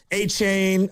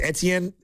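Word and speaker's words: Etienne: or they're going to trade for Achain uh or I guess now it's pronounced Etien.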